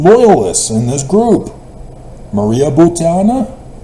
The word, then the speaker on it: Butina: Maria Butina. I don't think I pronounced her name right. Butina. Maria Butina. It's a double I, and most Americans drop the one phonetic I.